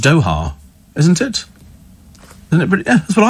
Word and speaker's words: Doha: It's pronounced Doha, isn't it? Isn't it? Yeah, that's what I thought it was pronounced Doha. I've always pronounced it Doha, and that's how they pronounce it over there in Doha.